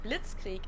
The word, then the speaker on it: Blitzkrieg: We pronounce it Blitzkrieg in German, and it literally translates to Blitzkrieg.